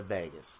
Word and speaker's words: vagus: state is regulated by the vagus kind of like pronounced like Las Vegas but it's the AG us if you're interested in